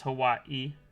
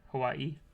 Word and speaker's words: Hawaii: right to be honest we don't mind how people pronounce Hawaii but saying it with the pause is appreciated so it is Hawaii Hawaii because you get like